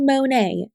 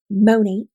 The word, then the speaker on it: Monat: go from monat and it's not called monet my girl learn how to say the company name monat or actually money modern